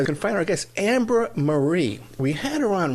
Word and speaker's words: Ambra: Now, it's Ambra, A-M-B. We were just laughing about this off there. It's Ambra, A-M-B-R-A. Then it's HuemanSol, but it's spelled H-U-E-M-A-N-S-O-L.